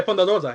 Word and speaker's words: Thunder Rosa: Yeah, Thunder Rosa, yeah.